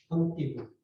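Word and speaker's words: Antigone: 그리고 이 프랑스의 현대 작가 중에 지금은 물론 죽었지만 장 아누이라는 사람이 앙티곤느, 앙티곤. 프랑스 말로 발음해가지고 앙티곤.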